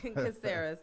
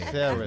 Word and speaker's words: Caceres: Caceres. Caceres. Okay. Caceres.